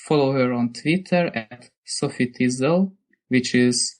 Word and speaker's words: SofiTizzle: And if you want to find out about her a bit more and follow her, just follow her on Twitter at Sophie Tizzle, which is spelled SOFITIZZLE.